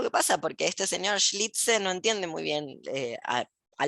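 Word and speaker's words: Schlitzie: vestidito, pero que es un señor, que es Schlitze, ahí me lo anoté para pronunciarlo bien, Schlitze, que efectivamente era varón, pero vestido de mujer,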